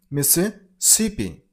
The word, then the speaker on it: Mississippi: Mississippi. Stress on the third syllable. On sip sound. Mississippi.